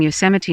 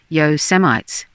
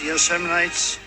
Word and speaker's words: Yosemite: and trump is calling yosemite national park he was he didn't know how to pronounce yosemite he was going yo semites yo semites it was you know